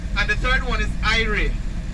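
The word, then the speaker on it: irie: the third one is ire i r i e i re which means that you're happy you're feeling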